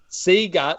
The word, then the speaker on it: Sega: Sega. We should do one. Yeah. Hold on. That's such a good idea. Sega, so using the Sega font and everything, but spell it S-E-E or S-E-A-G-A-H.